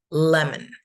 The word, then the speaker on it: lemon: And that is going to tell us that it is pronounced lemon, right? Le is going to be stronger. It's going to have the stress.